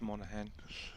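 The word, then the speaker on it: Monaghan: for him um yeah we know her as Alice Monahan the soft G but uh I guess uh if you don't know that looks like probably the right way to say it be interesting to see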